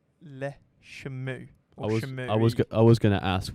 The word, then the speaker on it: Le Chameau: They are pronounced as Le Chameau.